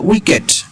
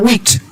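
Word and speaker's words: wicked: না, যে স্কাউন্ডেল বা উইকেট। এখানে হচ্ছে অনেক উচ্চারণ করে উইকট, আসলে এটা উচ্চারণ হচ্ছে উইকেট।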